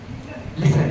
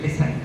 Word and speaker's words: listen: और दूसरा शब्द है, कोई बताना चाहे तो लिसन, LISTEN, लिसन, T silent है इसमें, लिसन यानी ध्यान पूर्वक सुनना।